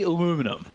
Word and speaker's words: aluminum: Can you pronounce aluminum? Aluminum for me? How do you guys do it? See, we say aluminum, but I have come to...